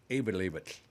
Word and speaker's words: Eyjafjallajökull: The guy came on and said, and you literally pronounce it with a lateral S. You literally pronounce it Eyjafjallajökull.